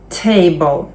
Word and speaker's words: table: голосна яка вимовляється наприклад table table остання І не вмовляється наголо на a table Cover Cover Cancel Cancel